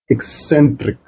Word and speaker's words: eccentric: And then we have eccentric. We need to put stress on CEN.